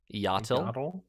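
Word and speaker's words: Iyatil: came across this this name pronounced it as a till tale okay iatil paul how do they say it in the audiobook if you remember it's yasuo yatil is how they say okay um and every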